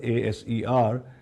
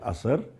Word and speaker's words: ASER: And ASER Pakistan, ASER, A-S-E-R, we call it ASER. The pronunciation is ASER, which means impact in Hindi, Hindustani, and Urdu.